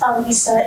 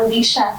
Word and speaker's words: Alisa: It's Alisa, it's not Alicia. It's just A-L-I-S-A, and yet I always get called Alicia for some reason.